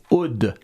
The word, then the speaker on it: Uhde: alors, c'est très important, il faut le prononcer et dire que ça se prononce Oud.